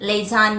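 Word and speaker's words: lasagna: H high next word लजानिया एल ए एस ए जी एन A Veda the जी is silent लेजन या लेजन लेजन means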